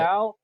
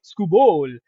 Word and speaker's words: Skubal: Skubal. Yeah, we're doing it. Skubal.